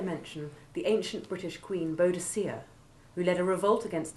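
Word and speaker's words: Boadicea: i should also mention the ancient british queen bodacia who led a revolt against the roman occupation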